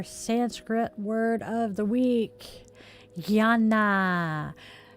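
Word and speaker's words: jnana: Gana. It is spelled J N A N A.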